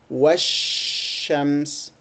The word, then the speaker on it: والشمس: So it takes longer time to pronounce. So we say washams.